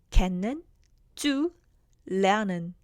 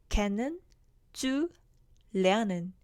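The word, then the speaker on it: kennenzulernen: 지금 제가 발음할 때 캔는 쭉 lernen 이렇게 뒤에 저 긴 하나의 단어처럼 보이는 거를 3등분해서 읽었는데요.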